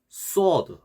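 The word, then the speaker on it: صاد: 그래서 다시 한번 이게 sword는 아까 배운 sin 이 시옷 발음보다 조금 더 둔탁하고 무거운 소리입니다. 둔탁한 소리. 그래서 혀가 밑으로 쫙 깔리는 소리.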